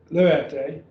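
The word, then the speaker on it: λύετε: Now then we have lu, et, three syllables, lu et. So we'd have lu et, luete, is you, and good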